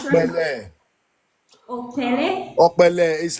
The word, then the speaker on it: Okpele: Oh, it sounds like you were saying B or Bele. No, it's P or Pele.